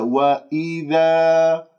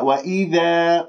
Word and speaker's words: وإذا: وإذا قيل لهم لا تفسدوا في الأرض قالوا، وإذا كسرة الهمزة، وإذا ذا وليس ذا، وإذا خطأ، وإذا قيل، القاف مفخمة